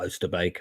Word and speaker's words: Oosterbeek: So this is Oosterbeek, or Oosterbeek, I think is the correct pronunciation, where the British had dug in slightly better numbers than they were.